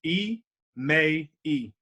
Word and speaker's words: Emmai: popping all right so my first name is three syllables e may e three syllables not two syllables a lot of people